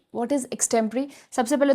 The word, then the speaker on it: extempore: और आज हम सीखेंगे the most tough and difficult topic for spoken English course which is एक्सटेंपरेरी। What is एक्सटें्परेरी? सबसे पहले तो दिस इज़ प्रोनाउंस्ड एज एक्सटेंपरेरी।